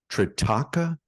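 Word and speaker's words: Trataka: I hope I'm pronouncing this right. Tritaka, is that Yes. correct? Can you Yes. tell us a little bit about what that is? Yeah. Tritaka is, I believe it's Indian.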